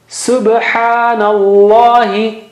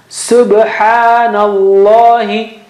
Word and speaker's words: Subhanallahi: Wallahi, huwallahu, inna Allah, subhanallahi, nallahi, na has fatha there. Subhanallahi, ba has qalqala. Okay, subhanallahi. That's how the tasbih, the right way of saying that tasbih is.